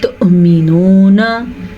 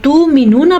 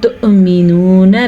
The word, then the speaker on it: تؤمنون: جب واو کے اوپر حمزہ ہو جائے تو پھر حمزہ پڑھا جائے گا نہ کہ واو. تو مینونا پڑھنے سے آپ نے پرہیز کرنا ہے. یہ ہے مینونا، واو نہیں پڑھیں گے، اس کو ہم حمزہ کا ساکن جھٹکے کے ساتھ پڑھا جائے گا.